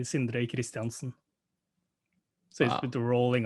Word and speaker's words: Sindre Kristiansen: well you did um at least the english version of it yeah what's the norwegian version of it the norwegian word version would be sindre christensen so with the rolling